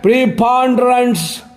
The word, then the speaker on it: preponderance: देखिए पी के ऊपर लकीर, इसका मतलब पी पे जोर देना होगा। ए के आगे दो बिंदी, इसका मतलब आ हो गया।